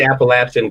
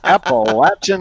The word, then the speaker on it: Appalachian: And I can't say Appalachian because I just don't say that, and it doesn't feel right. It's the local pronunciation for sure.